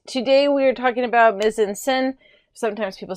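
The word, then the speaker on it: mise-en-scène: All right, today we are talking about mise-en-scene. Sometimes people say mise-en-scene. It's pronounced mise-en-scene, but either way works. It doesn't really matter.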